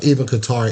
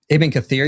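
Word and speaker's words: Ibn Kathir: My question for IP, do you know who to who who teacher of Ibqatar is? Iben Cathir you mean?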